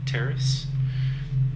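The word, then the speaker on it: Taris: It's spelled T-A-R-I-S, Terrace.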